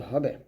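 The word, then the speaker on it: حاء: তারপরে দেখুন এই হাটা যখন আমরা উচ্চারণ করব অবশ্যই গলার মাঝখান থেকে চাপ দিয়ে চিকন করে উচ্চারণ করতে হবে।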